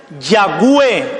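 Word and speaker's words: Yahvé: de la v w de que muchos pronuncian ya ve hoy abue yagüe malvín han oído a alguien pronunciarlo así porque muchos afirman que era una w pero aparentemente más se da a entender que era una v que una w entonces se forma la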